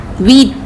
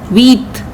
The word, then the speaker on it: huit: 8 is called huit. Here H is silent, so we will call it huit, not huit.